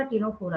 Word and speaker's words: Ctenophora: दोनों का नाम सी से स्टार्ट होता है, भले ही यहाँ पे सी साइलेंट होता है। एक निडारिया है, दूसरा टीनोफोरा है, दोनों सी है, सी से स्टार्ट होता है।